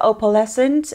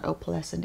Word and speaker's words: opalescent: going to use the opalescent I googled how to pronounce that but I was it no it was not go Pleasant it was a palace and oh my god I